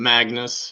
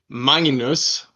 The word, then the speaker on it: Magnus: So yes, I'm Magnus, as the Americans say over here, Magnus, like a sheep, But I'm Magnus. That's how you pronounce it.